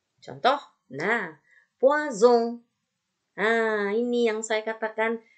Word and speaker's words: poison: Tetapi kalau dia S-nya itu sendirian, ya, di tengah-tengah kata, dia tidak terbaca S, tapi terbaca Z. Contoh, nah, poison.